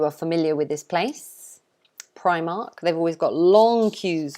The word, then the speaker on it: Primark: affordable clothes this one we pronounce it primark so it's pry mark primark like that i'm sure some of you are familiar with this place primark they've always got long